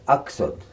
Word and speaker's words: Aksut: Okay, now, from my mother's side, the correct way to say grandmother is Aksut, and therefore I called her Aksut.